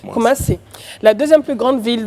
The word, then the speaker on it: Kumasi: Sur le coup, il faut prononcer Kumasi. Kumasi, mon frère. Kumasi, la deuxième plus grande ville du Ghana et capitale du royaume Ashanti.